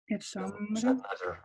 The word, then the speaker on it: التمرة: Third one, التمرة التمرة. We don't say the L.